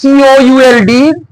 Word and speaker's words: could: The one example is, we know the modal auxiliary means can, could, spelling is COULD. Use the L is the silent letter.